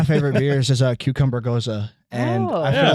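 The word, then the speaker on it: Gose: It's called a Goza. It's spelled G O S E. But I want to try this really bad. I know. I One of my favorite beers is a cucumber Goza.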